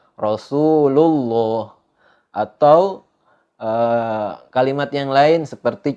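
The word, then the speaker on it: رسول الله: dibaca Allah Rasulullah didahului sebelum kalimat Allah itu ada harokat dhomah Rasulullah bertemu dengan lafaz Allah maka dibacanya Rasulullah nggak dibaca kalau ada yang baca Rasulullah itu cara bacanya Salah tapi yang benar dibaca tebal Rasulullah atau kalimat yang lain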